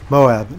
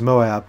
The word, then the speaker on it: MOAB: talk about the Moab they pronounce it as Moab with two syllables not just as one syllable Mo so yeah if